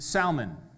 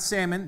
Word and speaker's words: Salmon: was a man named Salmon. Not Salmon, that's the fish. This is spelled differently. It's salmon.